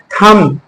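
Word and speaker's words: thumb: For example थंब, इसमें थंब है ना, थंब में एम से जो है के बाद में बी आया तो बी क्या हो गया, साइलेंट हो गया।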